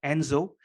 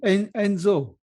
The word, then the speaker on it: Enso: This circle is called enso.